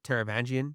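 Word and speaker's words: Taravangian: Um, so, uh, from here, King Teravangian, he comes over and he was Oh, good job.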